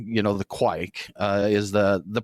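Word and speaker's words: Kveik: it's spelled kve i k you know the quake is the the pronunciation that youtube told me you use and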